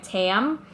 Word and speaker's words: Tam: pronunciation easier for everyone I always went by Tam cuz it sounds enough like Pam or Tammy whatever so I'm always